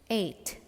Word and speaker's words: ate: In American English, the second form of this verb eat is pronounced as ate. But don't get confused with the number 8. That's not at or 8. That's 8.